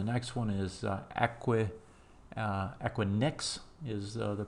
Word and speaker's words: Equinix: one here the next one is a quick Equinix is the pronunciation I believe and if we look at